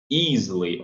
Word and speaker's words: easily: Quando tem essa sequência de EA, há uma boa chance de ser a pronúncia do I longo. Easily, easily. E aqui no Y um I longo também, easily.